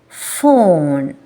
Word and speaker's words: phone: P that is wrong phone air flow between upper teeth and lower lip very smooth air flow f film wife Co